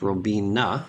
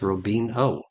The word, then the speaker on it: Robina: attention to is that Alberto Robina mispronounces his own last name it's Robina and he mispronounces it as Robin o Alberto Cafe don't serve